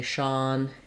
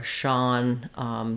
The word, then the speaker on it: Sean: So for example, we could say Sean is on the lawn, or Sean studies law, whereas we might say I see Jean, or Jean is wearing jeans.